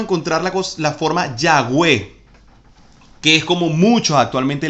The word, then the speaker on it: Yahweh: ya v no ya ve bien entonces sería yagüe ahora porque nosotros decimos y yagüe se escribe aunque usted ve que se escribe ya